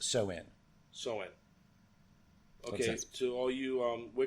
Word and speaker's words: Samhain: I was pronouncing it Samhain. Soin? Soin, yeah. Okay, so they must have learned English. Even though it's spelled Samhain, it's pronounced Soin, which makes perfect sense.